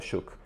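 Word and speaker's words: Shough: E sim, a pronúncia é essa, tá? É Shuk. O Tyler Shuk tem 26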